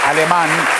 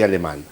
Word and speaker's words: Alemán: para decir, soy alemán con acento en la A, con una única N.